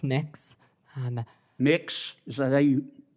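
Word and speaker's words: Mx: Cameron tell me what your you're proposing it's pronounce mix um mix is that how you how would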